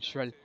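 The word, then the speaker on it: Schürrle: say it differently, but I like saying Schrill because that's how you pronounce it in Germany.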